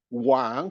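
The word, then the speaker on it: 往: And I would like to end by the fact that Wang, the king, is a homophone with another word, Wang, pronounced at the third tone.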